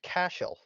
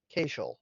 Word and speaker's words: Cashel: expo and went, "Oh, so it's pronounced Cashel and not Cashel, like or Casiel, like I thought it was."